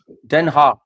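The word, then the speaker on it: Den Haag: मैं वैसे I mean देनहा that is हाउ it's pronounced here and इट्स the seat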